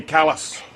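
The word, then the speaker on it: Kallis: So son of Freddy Kalis uh same spelling and and pronunciation as Jack Kalis from South Africa and and he and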